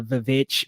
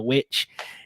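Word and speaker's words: The VVitch: years is Witch, and it's spelled out kind of like two V's, like the Vivitch, but it's the Witch.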